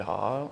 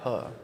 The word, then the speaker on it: Heo: pretty crazy you can just type in haw and then it's me yo do you can